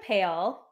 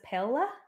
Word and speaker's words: Pale: The Siege of Pale pronounce it as Pella excuse you no it's pale p-a-l-e right it has to be pale I've even heard like Philip say pale I think like I'm sticking with pale um are we talking